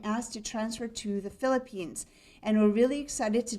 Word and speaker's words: Philippines: Now, as Bill said, we've been in Guyana for about 9.5 years, and now we've been asked to transfer to the Philippines.